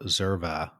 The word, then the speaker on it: Xerva: So if somebody wants to get a hold of you or learn more about Zerva, where should they go?